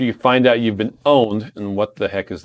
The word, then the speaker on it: pwned: Shauna says, what do you do after you find out you've been owned? And what the heck is that word? Okay. Owned is, you'll notice on your keyboard that the P is right next to the O.